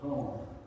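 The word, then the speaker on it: Caen: They pronounce it Cone.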